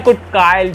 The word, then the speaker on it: cuticle: कुटकाइल कहते हैं गाइस, इसकी प्रोनाउंसिएशन है कुटकाइल, CUTICLE कुटकाइल, ठीक है।